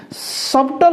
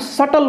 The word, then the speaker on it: subtle: पढ़िबा ना डाउट सिमति एठी लक्ष्य करो SUBTLE सबटल नुह आको बी को साइलेंट रखिबा आको सटल बोली पढ़िबा सिमति आउ एठी लख डेब्टर बी